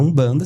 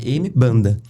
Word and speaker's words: Umbanda: Então o M tem a pronúncia de um e dentro do Brasil virou um banda, né?